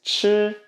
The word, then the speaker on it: 吃: It does still have the meaning of to eat, but commonly instead they choose to use this one, which is chi, chi or heck in Cantonese.